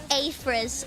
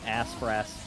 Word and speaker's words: Afress: Yeah, I had somebody call me Aspras just yesterday. Wait, like on purpose to give you like a nickname or did they just genuinely No, they just they just could not pronounce it. I think it was last night or the night before they were like assrat like that is not how you say that.